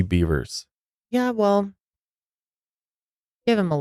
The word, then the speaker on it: Bevers: his statement here and he also mispronounces her last name he says Missy Beaver it's Missy beavers yeah well give him